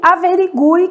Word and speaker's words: averigue: Então, a gente tem quero, que o U é nulo, sequência, que o U é semivogal, e averigue, que o U tem um som forte, né?